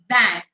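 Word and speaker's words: vingt: 19 these Nerf and the last one 20 van 20 van I understand many of you all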